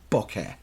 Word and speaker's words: bokeh: So the way you do that, the background thing, which is the thing that photographers hunt for, is called bokeh. And spell that for me now.